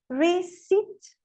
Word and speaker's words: receipt: O P em raspberry, receipt, não falo P.